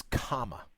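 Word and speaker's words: khama: word for forgiveness is comma and it's spelled KH am a not a common on a comm a but comma which also means the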